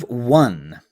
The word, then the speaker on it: one: Now we have one. Now it's the same sound W, but now spelled with an O.